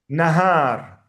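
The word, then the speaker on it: نهار: Ha is very important to be pronounced because if you don't pronounce it, it is nar fire.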